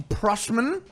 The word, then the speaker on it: Prussman: Stacey Prussman. Hello. Is that how you say it? Prussman, right? Yeah, you got it right.